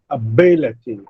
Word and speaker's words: ability: So B is the third syllable from last, so B will receive the primary stress, and the pronunciation is ability.